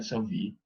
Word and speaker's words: Sauvy: Sauvy se escribe S-A-U-V chica Y, Sauvy, francés se pronuncia Sauvy, fue director del Instituto Nacional de Estudios Demográficos y director de la revista Población.